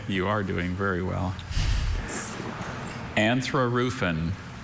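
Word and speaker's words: anthrarufin: Anthroofen.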